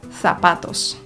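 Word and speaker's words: zapatos: oho w Hiszpanii jest jeszcze jedna sepleniąca litera seta czyli litera z powiemy na przykład sapatos więcej przydatnych wskazówek dotyczących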